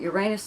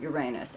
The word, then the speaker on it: Uranus: And yes, I do still pronounce it Uranus. I'm not going to change it because that's the way I've pronounced it since I was a child, right? Just like everybody else. I don't know who came up with this Uranus or whatever the hell they're saying.